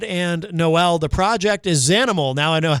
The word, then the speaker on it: Xanimal: The project is Zanimal.